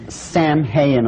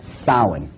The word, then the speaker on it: Samhain: call it sowing now when you look at the name it looks as if it's saying samhain or something like that no no no this is properly pronounced in the ancient gaelic as sauen sowen according to occult